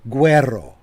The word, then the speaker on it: Guerrero: And Zelfel Guerrero. Good to see you. I'm sorry. I should roll my R's a little bit better. That would be Guerrero.